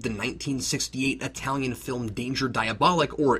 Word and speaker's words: Diabolik: 1968 Italian film danger diabolic or diabolic as it's pronounced in Italy because I've never seen